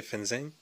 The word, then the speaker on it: fengzheng: tour sing franchement que ça doit se prononcer fenza et donc voilà je